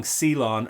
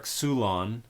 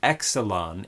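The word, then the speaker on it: ξύλον: And pronouncing xilon or xulon as exelon indicates that you do not have the first clue what you're talking about when it comes to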